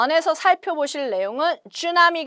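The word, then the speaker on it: tsunami: 안에서 살펴 보실 내용은 슈 나 미 가 되겠습니다 우리 한국말로 그냥 쓰나미 라고 발음을 하지 아주 큰 이런 해외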